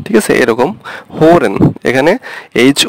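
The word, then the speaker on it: hören: যে ম্যা ইউজ করি, তো অনেকটা এরকম হবে উচ্চারণগুলো, ঠিক আছে? আর এটা হচ্ছে উ, এই টাইপের উ, হোরেন, হোরেন, ঠিক আছে এরকম হোরেন। এখানে এইচ ও উমলাউট আর ই এন, হোরেন, হোরেন মানে হচ্ছে সোনা।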